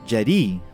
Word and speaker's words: Jedi: spelling of Jedi itself as it's spelled now it should be pronounced something as Jed II if we're keeping to the vowels of Japanese in Japanese the long eye is noted by the vowels a and I that's how you get